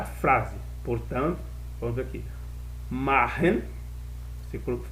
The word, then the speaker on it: machen: Machen, se pronuncia machen.